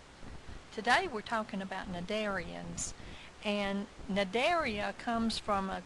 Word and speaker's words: Cnidaria: today we're talking about cnidarians and Cnidaria comes from a Greek word Neos the C is silent which means stinging nettle